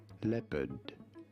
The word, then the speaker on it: leopard: is normally said as leopard Le you do want to stress on the first syllable leopard leard in American